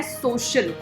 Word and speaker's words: social: The word is सोशल. स और श का साउंड इसमें इकट्ठा है, तो इसको आपने बोलना है सोशल. यहाँ पे स साउंड है और उसके बाद यहाँ पे